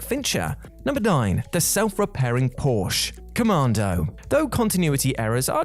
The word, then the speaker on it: Porsche: weasel Sully Sully Swanky yellow Porsche or porser if you want to pronounce it like that is left thoroughly